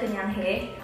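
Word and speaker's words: 그냥해: Dia ada paper wrap-nya dengan tulisan Nike Just Do It dalam bahasa Korea yang bacanya adalah Kenyanghae, jadi Just Do It.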